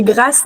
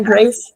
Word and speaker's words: Grace: Grace je m'appelle oui en français on dit grâce donc c'est pour ça moi je t'appelle grâce mais en vrai Grace ça serait la façon correcte de prononcer ouais et j'adore apprendre